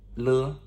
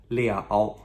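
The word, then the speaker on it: 了: a grammatical character, and this is le, okay, le, no tone. However, it does have another pronunciation, and that is liao, okay, liao. Now that is L-I-A-O with a third tone, liao.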